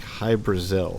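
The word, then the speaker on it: Hybras: how to pronounce this they said it was like high brazil so hybris oh right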